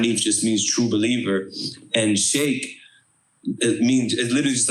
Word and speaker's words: Shaykh: literally pronounced is literally that's really how you're supposed to pronounce the the name is shake you know what I'm